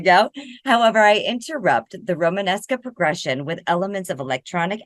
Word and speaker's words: Romanesca: It uses something called you want to pronounce that for me, Myzak? I can't. Romanesca.